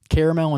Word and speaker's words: caramel: What other words do people not pronounce correctly? Caramel and caramel.